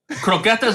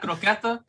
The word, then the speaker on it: croqueta: that i'm a flat croquetta i you can't pronounce the word i don't want to hear you say the word ever again it offends me croqueta stop saying it okay parakeet thank you